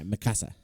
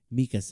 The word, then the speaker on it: Mikasa: sister for a while yeah masassa yeah Mikasa or Mikasa God damn it joh say it right Mikasa Mikasa you got say